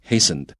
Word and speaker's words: hastened: fasten 啊，那个 t 也是不发音的，所以 A fasten 也是 t 不发音，它是绑紧的意思啊，fasten your seat belt。那 B loosened 是放松啊，那 D broadened 是加宽啊，这个放在句子里面都讲不通，都不对啊，所以我们要选 hastened，加速了他们的灭亡。